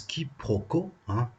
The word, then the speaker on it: quiproquo: dictionnaire robert leurs bancs du collège ça se prononce quiproquos quiproquo c'est une erreur qui consiste à prendre